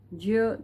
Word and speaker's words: ज्ञ: ज्ञ, ज, य, अ, ज्य, इसको ज्य भी बोलते हैं। जो शुद्ध उच्चारण इसका वैसे ज्य है, ज्ञानी, ज्ञान।